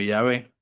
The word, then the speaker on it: Yahvé: La fórmula oficial desfigurada Jeobí o Jehová escrita de forma abreviada GH pronunciándose como Yahvé.